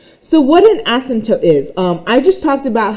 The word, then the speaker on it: asymptote: The way I remember it, asymptote sounds like the word ass.